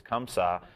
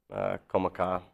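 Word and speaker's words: Comme Ça: And also, let's tell people how to pronounce it. It's Comme Ca.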